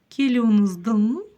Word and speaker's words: Келуіңіздің: Палочка с точкой практически не читается. Келюныздын.